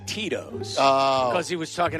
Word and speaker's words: Tito's: It rhymes with Mitos. And Jurko's first response was Cheetos. And he was trying to say Tito's.